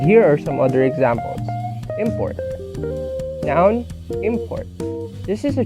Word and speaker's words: import: as a verb, while having the stress on the first syllable depicts the word as a noun. And here are some other examples. Import.